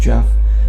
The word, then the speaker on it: Gef: the story of Jeff spelled gef pronounced Jeff 19:31 there was this